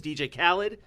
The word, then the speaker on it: DJ Khaled: japan primarily right away they got big names dj khaled did i pronounce that right i shouldn't talk about no